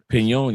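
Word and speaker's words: Peñol: Pon. Yep. That's how you pronounce a pon.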